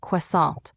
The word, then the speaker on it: croissant: It's pronounced croissant with more of a qua sound at the beginning. Keep in mind, the T at the end is silent.